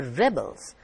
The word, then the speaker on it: rebels: the word is stressed when the stress falls on the first part river the rebels laid down their arms here the word is a noun the rebels the stress is on the first part of the word rebels when you put